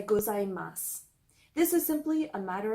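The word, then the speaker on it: ございます: even more informal also some people pronounce the extra sound at the end of gozaimasu while others do not and they'll say gozaimasu this is simply a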